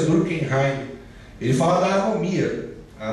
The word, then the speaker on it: Durkheim: Pronúncia Durkheim.